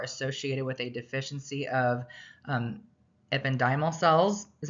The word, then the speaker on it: ependymal: these conditions are associated with a deficiency of ependymal cells, is how you say it. The pronunciation is kind of difficult.